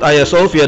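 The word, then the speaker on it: Ayasofya: tidak ada perubahan kemudian Hagia Sophia atau disebut ayasofia dalam pelafalan Turki diubah menjadi masjid ke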